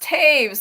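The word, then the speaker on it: Toews: t o e WS or yeah but it's pronounced Taves it's so it's blows my mind p i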